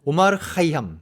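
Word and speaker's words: عمر خیام: 내가 할테니까 만일 들인지 해달라고 제가 제가 도달한 발음이 거예요 5 말 하이 함 이렇게 하면 된다 그래서 제가 엄마를 카이 향미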